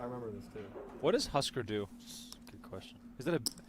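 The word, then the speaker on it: Hüsker Dü: Jeremy pointing out it's pronounced Husker Du.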